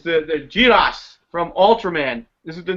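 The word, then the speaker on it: Jirass: like giraffes oh but it's it's you Jairus but it's been for Japanese pronunciation it's jiras yeah okay what you're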